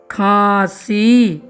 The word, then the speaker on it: खांसी: प्यारे साथियों, खांसी का उच्चारण जैसे आप करोगे, आपको समझ में आएगा कि यह जो शब्द है नाक से उच्चारित हो रहा है। यानी इसमें हम नाक का प्रयोग उच्चारण करते समय कर रहे हैं।